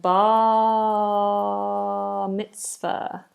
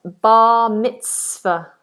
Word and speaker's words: bar mitzvah: and bar mitzvah.